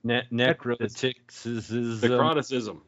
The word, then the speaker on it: Necroticism: Carcass had one that I can't pronounce. Necrotics. Scanthing the Insalubrious. That's what it is. Necroticism.